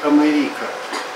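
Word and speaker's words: America: долгим то у курив Америка называется латински Америка с ударением на и и Америка аустралия правильнее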